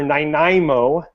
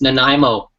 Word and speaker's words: Nanaimo: have any referrals for ninaimo I know I'm saying that just I'm sorry I have nothing against returning how do you say it Jason it's Nanaimo nanimo oh I'm doing 99